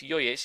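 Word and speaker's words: Jojić: pronounced Nuri Sahin, and the midfielder that I said I thought was pronounced Jojic is actually just Jojic. So it's Milos Jojic. You don't actually pronounce the extra J in the middle.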